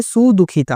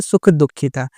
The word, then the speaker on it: सुदुःखिता: सुदुःखिता बोल दिया था मैंने, यहाँ पर जो शब्द है वो है सुदुखिता और मैंने वहाँ बोल दिया था सुख दुखिता।